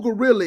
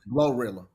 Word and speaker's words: Glorilla: Do you know who Gorilla is? What's up? Did I say her name correct? Glorilla.